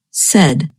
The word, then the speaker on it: said: And notice that the past tense of say is pronounced said. You can remember this pronunciation by thinking of words that rhyme with said, such as read and head.